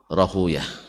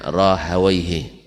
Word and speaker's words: Rahuyah: dimaksud adalah Ishaq ibn Rahuyah. Ya, orang hadis membacanya Rahuyah, orang nahu membacanya Rahawaihi. Ya, Rahawai. Nah, antum pilih, silakan pilih baca Rahuyah atau Rahawai.